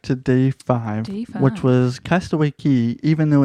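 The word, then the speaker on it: Castaway Cay: day five what was castaway key even though it's spelled ke CA why everybody there there everybody there pronounced it as key so we called it castaway key yeah so we were able to go ashore at 8:30 a.m.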